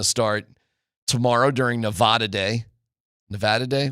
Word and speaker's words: Nevada: What What am I supposed to say? Nevada. It's not like you're just so not from Colorado. It just bothers me. Why? It's not It's not Nevada.